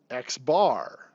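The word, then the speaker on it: x̄: If it's a sample mean, we use x bar. So x with the bar over it is pronounced x bar.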